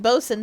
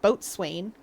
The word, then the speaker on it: boatswain: If you pronounced bosun the way it's spelled, where it sounds like boatswain, you'd never get anything done.